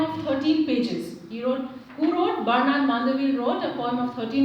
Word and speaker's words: Bernard Mandeville: Bernard Mandeville, as this is the American or the English way of pronouncing his name. Otherwise, he would be pronounced as Bernard de Mandeville.